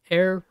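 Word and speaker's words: Ayr: now uh from Serena up to air I think is how you say that is a cyclone warning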